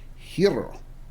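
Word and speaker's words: γύρος: corrected me on the proper Greek pronunciation is it's and I I'm still going to butcher it a little bit but it's like hero is the way they say it even though in the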